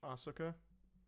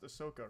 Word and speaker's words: Ahsoka: am I GNA watch ASA I don't know why I say it like that it's pronounced Ahsoka right Ahsoka Tano I'm so